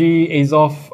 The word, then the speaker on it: Azoth: what we have here today is the Rog azov azov I don't know how to pronounce it it's off it's off okay it's off we go it